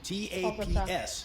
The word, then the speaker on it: TAPS: The main way that the tank differs is that it has a brand new system called a top attack protection system, TAPS, pronounced taps.